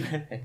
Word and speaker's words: Melee: So, but, the fact that they've got Melee there still, or Melee, however you pronounce it, there still is like massive. It's over 10 years old. Melee. It's actually Melee, yeah.